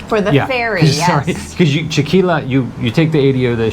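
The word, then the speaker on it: Chiquilá: I want to say Chiquila, because I want to pronounce it like tequila, but Chiquila, yeah.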